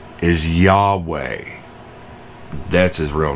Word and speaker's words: Yahweh: as an inhale and way is technically pronounced as an exhale ain't that cool so